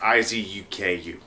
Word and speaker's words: Izuku: Or I think it's how it's pronounced. Izuku.